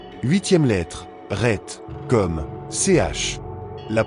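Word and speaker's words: Het: Huitième lettre, Ret, comme CH. La prononciation, Ret, est comparable à la lettre J en espagnol, comme le mot la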